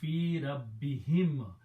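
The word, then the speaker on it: في ربهم: So the word is fi Rabbi, and to ease in the pronunciation, we also pronounce this kasra. So the final word is fi rabbihim, about their Lord.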